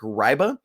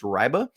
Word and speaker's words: Reibe: the weekend to Eric riba it's spelled REI be but he is a German National so it's pronounced riba um this offer came